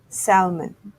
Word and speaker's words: salmon: A common favorite among Japanese food lovers, the pink flesh freshwater fish called salmon, but often mispronounced as salmon. Similar to almond, the L is silent.